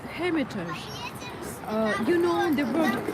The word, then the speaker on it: Hermitage: It's called Hermitage. Uh you know the word Hermitage in Russian. Um it it's um it is pronounced as hermitage.